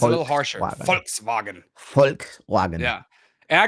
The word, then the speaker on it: Volkswagen: Volkswagen or f um Volkswagen is pretty much folk is the peoplek and vagon is the wagon so it's the people's wagon so folks like folks yeah like folks it's